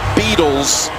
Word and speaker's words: Beadles: And all the way out to the 29, running behind Zane Beadles. Picks up 15. Yeah, you said it right.